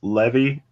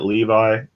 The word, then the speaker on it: Levi: seven seas oh man I always pronounce that name is levee for some reason and it just gives the character I guess more of a thing instead of pronouncing it Levi oh yeah I don't